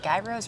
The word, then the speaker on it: gyro: what are they saying is it gy Rose or yeah G gyro sorry it's a a gyro or is it a people say it differently I think I say it wrong they say Euro there gyro it depends who you're asking but it all sounds delicious